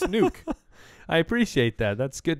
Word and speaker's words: Nuk: Even though it is spelled N-U-K, it's still pronounced nuke.